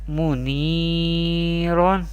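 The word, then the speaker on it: مُنِيرًا: The next is mim pesh mu, noon ya zir ni, muni, ra do zabaron, muniron. Here zabar before ya sakin, this is ya madda, and madda letters we pronounce by stretching up to one alif or two harakat, and this is do zabar tanween, we pronounce like this, muniron.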